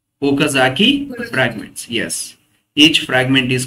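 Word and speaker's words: Okazaki: And each fragment is called, क्या बोलते हैं ओकाजाकी fragments. Yes, each fragment is called ओकाजाकी fragments. Fragment spelling वो के ए जेड ए के आई ओकाजाकी वो के ए जेड ए के आई ओकाजाकी फ्रैगमेंट्स.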